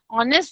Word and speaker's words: honest: Honest, the spelling begins with H. It doesn't begin with the vowel. But the sound you get of honest is O.